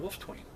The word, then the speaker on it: Wolfetwain: The funny part about the name, Wolfetwain it's Wolf, silent E, Twain. When I got my Knight Scroll, it didn't have the silent E in Wolfetwain.